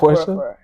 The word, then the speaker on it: Porsche: Yeah, that's how you pronounce it. A like, Porsche?